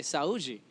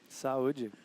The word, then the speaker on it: Saji: I think it's time to say Saji Saji how's my pronunciation there that was perfect cheers guys sa enjoy